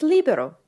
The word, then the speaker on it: Libero: Its ability is Libero, and that's the only way you pronounce that.